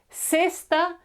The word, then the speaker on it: cesta: In Latin America, this F sound is not used. They simply say S. So this would be cesta, cima, and ácido. Okay, just a normal S.